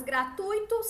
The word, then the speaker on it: gratuitos: são duas perguntas nenhuma como você pronunciaria as palavras gratuitos circuito intuito e com como é que a gente falou com a tonicidade da palavra tuíto certo a sílaba tônica twitto mais forte e o que elas